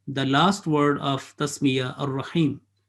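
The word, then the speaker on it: الرحيم: Again, the last word of tasmiya, ar-Rahim. Again, alif is silent, lam is silent. There is no sign or alamat on that. But they are written, they are not pronounced.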